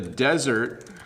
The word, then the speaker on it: desert: So first of all, the desert has a lot of sand, 1D.